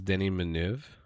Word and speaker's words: Denis Villeneuve: My name is Denis Villeneuve, and I'm the director of Blade Runner 2049. Denis Villeneuve. He says, "My name is Denis Villeneuve."